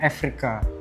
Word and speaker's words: Eureka: secara lisan tulisannya Eureka, tapi untuk penortnya sebenarnya ini dari bahasa Yunani, cara bacanya Afrika.